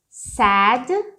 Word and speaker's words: sad: Com isso, a diferença de pronúncia de sad com o passado do say. Isso aqui, ó. Esse aqui é aberto. Você fala assim, sad. Você abre bem a boca.